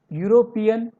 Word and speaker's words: European: E seems like a vowel sound, but its pronunciation is like a consonant sound. U. European.